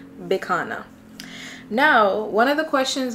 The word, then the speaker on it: Bicana: c a n a some people may think it's Bianca but it's not Bianca it's bana my name is bana it